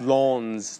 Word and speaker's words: Lens: Lans today yesterday apparently I said it wrong I said lens and I was I was uh scolded in the chat it's l they got to do it the French way right um I think